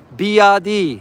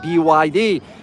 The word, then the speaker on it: BYD: make a trip to be that's how they pronounce it here in China of course for us English speakers we pronounce it byd in China they pronounce it B uh I am hoping